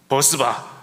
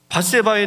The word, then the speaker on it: 밧세바: 여러 장면이 있습니다 그런데이 어떤 그 성도님이 발음을 잘못해서 또 이렇게 표현하더라구요 버스바 버스만 사건이라고이 발음 잘 해야 됩니다 사람 이름은 이름 잘 불러야 됩니다이 버스바 이거 잘못 말하면